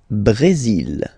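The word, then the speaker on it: Brésil: it's only mexic okay Brazil Brazil okay you will pronounce the final L here and then remember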